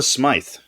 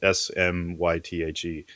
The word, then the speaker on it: Smythe: I'd say has a warm presence, and for that, my pick is Vanessa Smythe, or Vanessa Smith. I might be pronouncing that wrong. It's Smythe. She famously portrayed Michio on The Expanse.